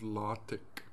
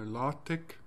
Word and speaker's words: LaTeX: can see what is called lattek no lotic it's spelled like latex so lartec code just executes code